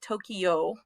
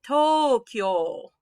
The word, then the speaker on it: Tokyo: squishing it together so i know you're probably used to saying tokyo this is actually tokyo tokyo that k and that y gets smashed together now i used